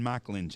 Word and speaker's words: Mikulencak: jeff giver from clovis new mexico mr mike lynch yeah i get it right you got it yes sir you did not sounded good it doesn't it's not spelled anything like how it's pronounced michelin check that is not a name from uh sweden